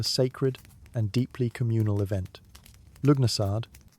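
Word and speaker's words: Lughnasadh: Lugnasad, pronounced Lunasar, the Celtic festival honouring Lugh, the god of light, craftsmanship, and war.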